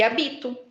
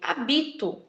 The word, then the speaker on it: habito: Segundo exemplo, hábito e habito, né? A grafia é a mesma, OK? A grafia é a mesma. O que muda novamente é a pronúncia devido ao quê? A sílaba tônica.